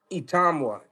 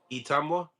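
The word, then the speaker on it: Itauma: Itamwa. Itamwa.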